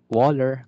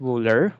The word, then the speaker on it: Wöhler: So siya, Friedrich Wöhler, Wöhler, kaya bahala mag-pronounce, no. Pero W's are pronounced as V's in German, no.